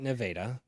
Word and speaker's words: Nevada: not they have a it's spelled Nevada but they call it nadaa they have another yeah